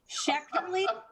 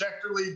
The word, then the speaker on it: Schechterle: before this and i'm i'm going to probably murder it shechtenly yeah well i said it to courtney phonetically so she's got it i know she does yeah it's it's schecterly but jason is the